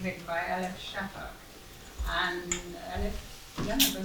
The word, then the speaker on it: Elif: And Elif, yeah, I said it right?